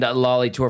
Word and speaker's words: Lali Toor: Gazzola, Jasmine Sidhu, and Lali Toor from Apna Hockey.